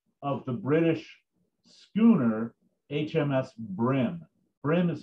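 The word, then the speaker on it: Bream: the log book of the british schooner hms brim brim is spelt b-r-e-a-m but like the fish it's pronounced brim it's a it's a really small warship um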